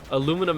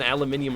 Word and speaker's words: aluminium: dumb I was like they say it wrong and then I got educated and I'm like oh they don't say it wrong it's literally spelled different it is it's true aluminum and aluminium are two different words they mean the same thing but they're spelled differently it is so weird